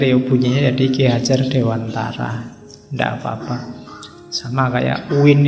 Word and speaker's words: Dewantara: ketemu beliau Ki Hajar Dewantoro ya kalau pakai bahasa Jawa kan bacanya Dewantoro nanti yang mungkin tidak familiar ya bunyinya jadi Kia Hajar Dewantara ndak apa-apa sama kayak